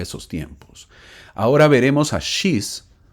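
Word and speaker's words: Shiz: tiempos ahora veremos a shis Sí así se pronuncia su nombre así se escribe shis quien es el último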